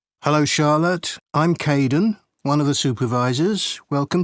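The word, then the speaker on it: Kaeden: Hello Charlotte, I'm Kaden, one of the supervisors. Welcome to the team. Hi Aiden.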